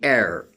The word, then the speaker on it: heir: something from the parents, he is called the heir. Or a person who has to succeeding to the throne, who has to succeed to the throne of his parents, so is called heir. And the derivative of heir is heiress, which is used for the females, for the feminine. Dishonest, this is the derivative of honest. So H would be silent in all these words.